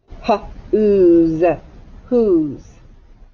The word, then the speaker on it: whose: first elbows up who's and the s sounds like z and the e is silent whose now we're going to